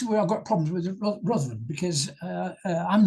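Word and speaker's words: Ruthven: I've got problems with rosan because I'm not sure if that's how it's pronounced there are several rosans in Scotland and I know there's one in abedinia which is pronounced rivon so my apologies I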